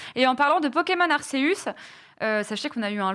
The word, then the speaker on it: Arceus: Lui et moi, on prononce Arceus. Hein, je suis désolée, hein, à la latine. Hein. Moi aussi. Je prononce Arceus maintenant parce que je me suis trop fait engueuler dans le chat des Amis Bro, parce que de toute façon, tout le monde gueule. Donc voilà, Arceus, mais on est d'accord, c'est à la latine que ça se prononce.